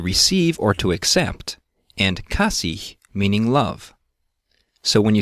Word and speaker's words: kasih: Even when it's at the end of the word, the H is always pronounced.